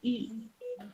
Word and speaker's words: eu: Esa EU es una de las excepciones del francés. No se pronuncia como E, como R, digamos, directamente U. D'accord?